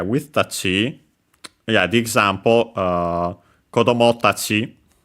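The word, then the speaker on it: 子供: Kodomo on its own should be unaccented. We have seen that one before, I think. But yeah, with the Tachi, the accent stays on the final mora of final syllable, technically, of the word before Tachi. So on the mo.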